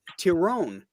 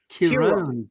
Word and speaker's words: Tyrone: it's it's pronounced tyone tyone power look at that and you're making fun of me with muus and now we're all find out everyone's name that's because it's I know that's the Irish pronunciation hey uh guys I've